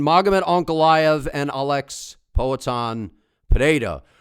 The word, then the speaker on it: Pereira: Just say Alex's name normal, bro. How many people are going to comment that his name is Alex Peda, dog? I'm sorry that I'm pronouncing his name the right way. I don't understand why people are complaining about that.